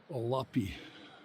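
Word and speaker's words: Hualapai: Ualapi. Ualapi. Ualapi. The H is silent.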